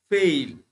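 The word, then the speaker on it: fail: এই ওয়ার্ডটার উচ্চারণ কি, উচ্চারণটা হচ্ছে ফেইল। ফেল না কিন্তু, হুম, ফেল না, ফেইল।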